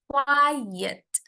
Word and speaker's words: quiet: e kalau yang ini quiet quiet Oke quiet dia ada dua silabel Why dan e quiet artinya diam sunyi tenang gitu hampir mirip penulisannya tapi cara bacanya sangat berbeda quiet dan quiet Oke